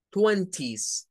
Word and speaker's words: twenty: nt verdad de que cuando hay una n delante de la t la te no suena pero eso es American